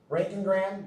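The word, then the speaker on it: roentgenogram: Rank and Graham. That's how that it's pronounced rank and Graham.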